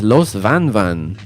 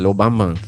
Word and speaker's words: Los Van Van: for the lo bamban, also known as los van van. You know, if you go to fucking, but in Cuba they pronounce it lo bamban.